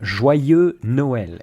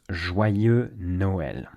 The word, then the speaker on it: Joyeux Noël: Joyeux Noël is how we say Merry Christmas. Joyeux Noël.